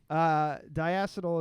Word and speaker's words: Diacetyl: Diacetyl is I almost said it wrong just there, even if I just...